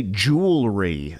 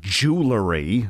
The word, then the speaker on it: jewelry: because and avoid mispronunciations say jewelry not jewellery which could offend undoubtedly you don't want